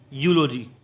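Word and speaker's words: eulogy: देखिए, ई यू एल ओ जी वाई, क्या हो गया? यूलोजी। क्यों? क्योंकि ई यू क्या होता है? यू, एल का ला, ओ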